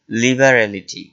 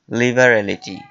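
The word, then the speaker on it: liberality: উদারতাকে ইংলিশে বলা হয় লিবারালিটি লিবারালিটি আপনারা একটু উচ্চারণটা সতর্কতা সহিত উচ্চারণ করবেন লিবারালিটি এটা কিন্তু লিবার্টি না লিবার্টি মানে স্বাধীনতা যা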